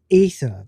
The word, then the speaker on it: Aether: I mean, it's pronounced Ether, but for whatever reason, they always do that. They put an a douchy.